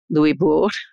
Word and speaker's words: Louisbourg: The fortress of Louisbourg did fall, Louisbourg, to try to stick to the French pronunciation, but was returned to the French.